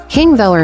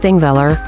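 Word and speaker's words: Þingvellir: King Viller National Parking Villa, pronounced ThingVilla, is Iceland's most important historical site and a geological wonder.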